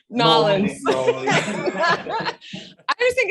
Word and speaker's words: New Orleans: Yeah, you did notice how I pronounced New Orleans, right? Nolans.